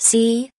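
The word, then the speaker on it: 四: Note, although Four in Chinese is pronounced Si, she is likely used here because Si does not sound as good.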